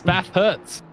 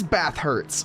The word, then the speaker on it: Bathurst: Holy, why was that so difficult to pronounce? It's literally the name of the track. Either way, this... It's not though. Hurts. Bath hurts. Oh, it is Bathurst.